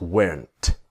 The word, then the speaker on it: weren't: Now with just like was not to wasn't, where not is weren't. But of course, the T is silent.